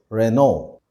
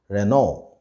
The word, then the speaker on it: Renault: should be pronounced as renault the l and t at the end of this word are silent so the right way to pronounce this word is renault the last car brand